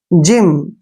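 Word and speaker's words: gym: हम ज करते हैं जिम जिम में क्या है जी के बाद वाई आया है जब भी जी के बाद वाई आता है तो जी का प्रोनाउंस हम ज करते हैं जिम देखिए जीनियस ठीक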